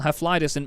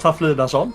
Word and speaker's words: Haflidason: race of tonight, Hefliderson. first off, mate, very well done. Am I saying your name correctly? Because I do not want to get it wrong. It's pronounced Haflidason, so close enough.